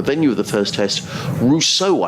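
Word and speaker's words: Roseau: of the first test Russo aboriginely pronounced that r-o-s-e-a-u is the capital of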